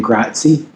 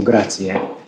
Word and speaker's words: grazie: So you hear a lot of Americans saying grazie because it's spelled with an IE at the end, but the E is actually pronounced like an A. So grazie.